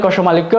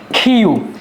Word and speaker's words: ক্ষ: অনেকে এই বর্ণটাকে আমরা কষক্য বলে থাকি। আবার অনেকে এটাকে বলে থাকি কষমালিক্য। এটা আসলে কষমালিক্য নয়। এটা কষক্য নয়। এটার শুদ্ধ উচ্চারণ হল খিউ।